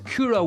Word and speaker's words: Kyro: It's Kyro. It's almost like got a Japanese pronunciation to it. Kyro, like with the very particular Y and the O with dots, the So yeah, it's